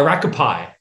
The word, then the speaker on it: Rakaupai: get this rock up rock how do you pronounce it uh rocco pie rocket pie oh hey i got it tony